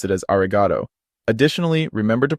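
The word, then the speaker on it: ありがとう: another example the word arigato meaning thank you is pronounced with a smooth and level intonation and don't forget about the long vowel at the end so it's important not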